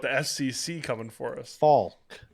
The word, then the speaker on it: Faulk: Faulk. Folk.